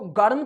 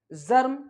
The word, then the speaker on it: germ: अब इसको गर्म तो नहीं बोलेंगे ना, जर्म।